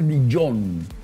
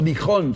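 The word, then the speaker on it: Dijon: que se conoce como mostaza de dillón Sí también dión es una zona de Francia verdad o dijón se escribe ahora meterse un poco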